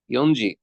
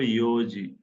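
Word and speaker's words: 四時: ইয়নজি। হুম, ইয়নজি বলার কথা, কিন্তু এটাকে আমরা ইয়নজি বলবো না, এটাকে বলবো ইয়োজি। ও ইওজি, চেঞ্জ হয়ে যাবে। চার চার নাম্বারটা চেঞ্জ, চারটাকে ইয়োজি বলে।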